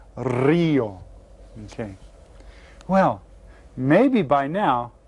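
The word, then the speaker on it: río: And you get to roll your R on that one. Rio.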